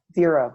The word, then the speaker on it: Xero: Xero, that's a software.